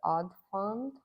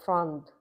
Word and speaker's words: Frond: If you plan to buy a variegated pearly marks, and that's the Odd Fund, and it's spelled THEODDFROND. Oh, so it's frond, FROND.